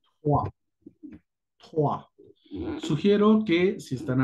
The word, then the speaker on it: trois: Se escribe de esta forma, Trois, pero la forma de pronunciar será Trois. Trois.